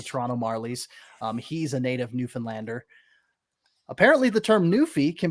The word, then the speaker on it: Newfoundland: ECHL, I had the opportunity to cover the Newfoundland. That's how you pronounce it. I come to find out after covering the Growlers of the ECHL, Newfoundland.